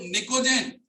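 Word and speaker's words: pnictogen: Carbon family के बाद में लिखना आप लोग निकोजेन, निकोजेन की स्पेलिंग पी से स्टार्ट होती है, PNICOGEN, निकोजेन।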